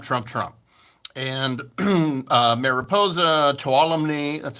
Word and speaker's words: Tuolumne: all went trump trump trump and uh mariposa tuolumne that's how you pronounce it calaveras amador placer uh and all